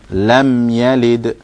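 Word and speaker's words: لم يلد: Lam Yalid. Lam Yalid. So when you pronounce the meme here, the most important thing to do is not to bounce it.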